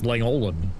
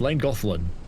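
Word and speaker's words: Llangollen: That's like um trying to learn how to pronounce Lang Goofflin. It's like you look at it and it's go it's Langland but no it's Lang Goan.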